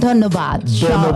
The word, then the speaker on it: ধন্যবাদ: ধন্যবাদ।